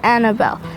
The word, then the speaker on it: Annabella: you have been here you stop saying the a at the end and pronounce it Annabelle when you start doing